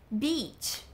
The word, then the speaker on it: beach: E aí, cuidado com essa pronúncia, porque é bem com som de I mesmo. Beach, beach. Porque se você fala com som de E, tipo, B, é outra coisa.